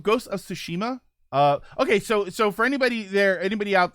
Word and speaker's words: Tsushima: Yes, see, I say Tsushima. I stress the middle syllable. In the video, he kept calling it Tsushima, and I was like, that sounds weird. That sounds like sushi.